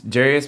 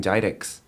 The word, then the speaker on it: Jarius: school in college, and there was this Colombian that was trying to say my name, English name, and it's Jarius, but she kept saying Jidix. I was like, no, it's Jarius.